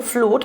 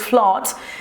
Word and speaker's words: flood: Yo siempre lo pronunciaba con U, flood, pero es flood, inundaciones, y strong winds, fuertes vientos, y drought, que significa sequía, ¿ok?